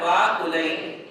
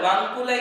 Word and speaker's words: वाकुलै: फलार्घ्यकै धवल मंगल गानर वाकुलै जिन गृहे जिननाथ महम यजे। ये उसका शुद्ध उच्चारण है। कई लोग जो है गानर वांकुलै बोलते, वांकुलै, गानर वांकुलै, वांकुलै नहीं, वाकुलै।